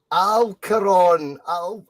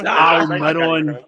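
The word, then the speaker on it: Almirón: The right winger for Newcastle, Alcaron. I have to take your first answer. Said Alcaron. It's Almiron.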